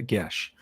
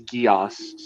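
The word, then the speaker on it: geas: you mean you're Celtic how can you not pronounce it a gesh I don't know I've only ever heard it pronounced as GEOS so because I've only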